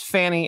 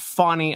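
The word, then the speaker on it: Fani: and by the way it's Fanny it's not funny I don't want to hear the crap pronunciation of names remember it was Kamala before it was Kamala they I don't understand if this is some sort of a up or something to play with your mind so that they can screw you up when it comes to pronunciation of things it is not fonny there is no W in that it is Fanny and she is trash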